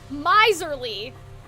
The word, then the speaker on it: miserly: Oh, miserly like, miserly. Like geyser, like rhymes with geyser.